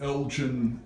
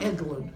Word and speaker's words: Eglin: You would have been at Elgin Air Force Base, I think. Eglin. Eglin, Yes. yeah. See how I can pronounce it.